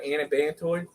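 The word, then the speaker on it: anabantoid: Come to find out, it's what, an antibantoid.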